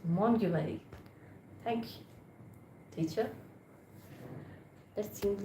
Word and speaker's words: Montgomery: The group of not Montgomery is Mont you marry.